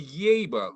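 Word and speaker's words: Yaeba: The Yeba, this is a true or false question. Okay. The Yeba look, and it's spelled Y-A-E-B-A, crowded, crooked tooth smile with accentuated canine teeth.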